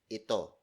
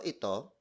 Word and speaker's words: ito: It's actually a contraction of the word ito, spelled as I-T-O. The reason why I taught the contraction instead of the full word, it's because it rolls off the tongue better. So instead of saying, ano ito, you say, ano to.